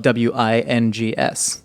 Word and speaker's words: Wyngz: I think they deserve to spell it W-I-N-G-S.